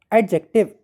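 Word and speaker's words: adjective: वो है D next देखें एडजेक्टिव एडजेक्टिव बोले एडजेक्टिव तो ये डी यहां भी साइलेंट है फिर बस बोले बस एक मिनट हां बोलिए बेस बेस बेस तो यहां भी डी साइलेंट है।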